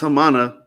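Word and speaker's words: Hāmāna: Yeah, so in Arabic it's Fur Awana Hamana. So it's not a big deal. It's pronounced Hamana, so it's not. Yeah. So in the translation it says Haman, but it's pronounced in Arabic Hamana.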